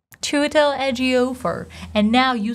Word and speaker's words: Ejiofor: Can you pronounce it? I think you can. Chiwetel. Chiwetel. And then the last name, Ejiofor. Chiwetel Ejiofor.